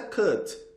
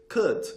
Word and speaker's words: could: Então, could be, could be, could be, could. Ou então, faz de conta que vai falar could, ó, could, mas não fala, não fala could.